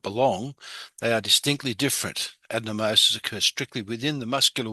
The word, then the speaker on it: adenomyosis: And once again, that's pronounced adenomyosis, is where the tissue lining the uterus starts to grow in the muscular wall.